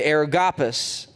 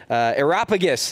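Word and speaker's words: Areopagus: brought him to the aragopoulos uh i always say that wrong i said it wrong on the first service too eropagus is how you pronounce it i have a little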